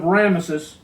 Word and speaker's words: Ramesses: in the land of Ramesses, as Pharaoh had ordered. Now, when it says Ramesses or Ramses, however some people pronounce it, this was not the name of this Pharaoh.